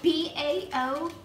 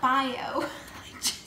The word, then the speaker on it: Bao: the Nguyen na 328 you should really not pronounce words like Bao is not bio how you pronounce it it's not by oh babe oh babe anyways